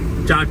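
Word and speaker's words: kyat: दरअसल इनकी करेंसी है KY80, आप उसे क्या प्रोनाउंस करेंगे लेकिन बोलते उसे चाट है, चाट। बर्मा करेंसी चाट, चाट, ओके चाट, इसे बोलते हैं चाट।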